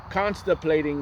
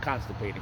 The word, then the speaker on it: contemplating: Contemplating mean. Let's see what that means. Constipated. No, contemplating. No, contemplating. Contemplating. Not constipating, slacking. Contemplating. I think this is it. Contemplate. Contemplate. I was saying it wrong.